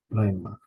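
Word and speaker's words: ῥῆμα: Last word, rema, rema. Now this, with it being on the ro, that H, you can't really hear the H. It's basically just rema, rema.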